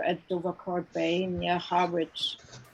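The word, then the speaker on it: Harwich: dover court bay near harbridge pronounced heritage okay the w sign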